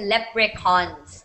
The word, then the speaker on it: leprechaun: C yeah the Leprechaun the CH becomes a k so in essence you're saying lepr cons this is how you say it okay lepre cons so the CH has a k sound and that's in that's the way you say it in in Irish okay in English CH does